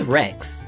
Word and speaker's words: Rex: be called T-Rex X the word Rex in T-Rex is spelled r e x but it sounds just like the word for destroying things which is spelled w r e c KS the boy thought that